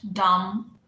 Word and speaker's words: dumb: We've done B silent, dumb, plumber, climb, thumb, where B was silent, debt, debtor, right?